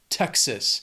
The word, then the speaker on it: Texas: After that is Texas. 2 syllables, stress is on that first syllable, Texas.